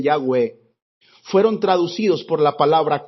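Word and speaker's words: Yahweh: pueden pronunciar y que significan o que se pronuncian yagüe fueron traducidos por la palabra curiosa eso quiere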